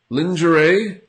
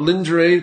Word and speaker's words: lingerie: It's not lingerie. Lingerie. Lingerie. Lingerie. So the G is sort of, because I think this is from French, so that's how we pronounce these kind of words in French. The French origin words. Je. Je. So the G has a Z sound. It's like a very strong SH.